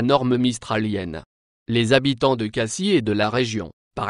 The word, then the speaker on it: Cassis: exemple aussi à marseille ne prononce pas les finales du nom de la ville que ce soit en français ou en provençal localement on dit que le fait de prononcer le s final ed a remarqué facilement ceux qui ne sont pas de la région le s final n'est pas prononcé dans la variante local